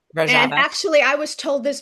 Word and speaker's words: Rojava: Is is it pronounced Roja? It's Rojava. Rojava.